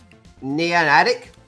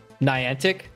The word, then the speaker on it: Niantic: company I always butchered their pronunciation of this neon adct is up mean Niantic Niantic it up is updated